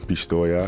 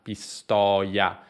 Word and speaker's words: Pistoia: questa clip quindi davvero sorprendente e reggio calabria pistoia il gusto tornando al nostro sono io che abbiamo visto prima bisogna farlo anche in parole come pistoia pistoia jajaja molto spesso chi parla inglese dice pistoia